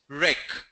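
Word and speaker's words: wreck: W is silent, rec.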